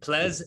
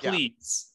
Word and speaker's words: Plez: Plez Evans. It's not Pleas.